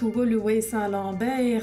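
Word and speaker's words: Woluwe-Saint-Lambert: lui veut sur l'envers ça se prononce en fait double way saint lambert ainsi pas facile et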